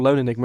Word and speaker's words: LON3 Enigma: I also known as LON3 Enigma, or Lone Enigma as it's pronounced, but it's LON3 Enigma on Twitter and YouTube.